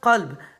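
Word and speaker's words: قلب: Par exemple, en langue arabe, le mot chien se prononce kelb et le mot cœur qalb.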